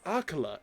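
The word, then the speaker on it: Akkala: Akala ancient tech lab.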